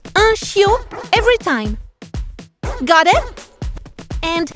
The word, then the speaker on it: chiot: C-H-I-O-T. Chiot. This one is the same whether the puppy is male or female, so it's easy. It's un chiot every time.